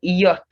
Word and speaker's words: yacht: point in time then yacht forget about the ch and right after you